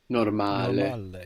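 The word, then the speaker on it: normale: Italian we will say normal normal good so we have the accent on the second last syllable no on the normal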